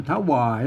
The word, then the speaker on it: ถวาย: นะ ครับ นอก วรรค อ่าน ว่า อ่าน ว่า ถวาย นะ อัน นู้น หลัง ๆ มานะ เปิ้น บอก